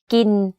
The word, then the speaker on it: กิน: The first word of this sentence, กิน or eat, is in middle tone, but the last word, ไข่ or eggs, is in low tone.